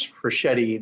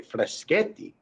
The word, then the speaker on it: Freschetti: and i say i i pronounce for shetty the italian the true way freschetti and if i do